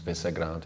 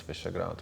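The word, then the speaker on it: Visegrád: Yes, I mean it's hard to pronounce also for some. It's Visegrad, it's Visegrad, but I think this name served the cooperation and the fund well.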